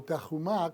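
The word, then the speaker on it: תרומה: es ese ese término teruma algunos pronuncian terum o terumá como se dice en hebreo pero pues ter ruma para que se oiga sea más fácil para las personas pronunciarla en español y como dije anteriormente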